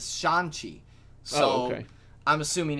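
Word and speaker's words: Shang-Chi: um sean okay i thought it was shane chi but in the trailer he his character pronounces it as shanxi so i'm assuming it's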